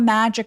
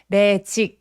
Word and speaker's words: magic: Magic 아니고 magic 하면서 입술을 살짝 내밀어서 발음해 주세요. magic fish.